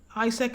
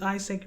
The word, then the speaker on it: AIESEC: At the time, ISEC was the largest student body outside of student body organization. ISEC is spelled AIESEC, and is a global